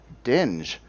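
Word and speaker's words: djinn: looked really cool and this is the uh dinge uh d-j-i-n-n i'm thinking i'm pronouncing that right too i know that's uh like a d-t kind of thing um and this is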